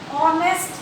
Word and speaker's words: honest: So you have here honest, H is your consonant. Another example, our, H is our consonant. But it is pronounced, the sound is having vowel sound.